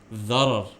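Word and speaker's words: ḍarar: It rhymes with gharar. Dharar.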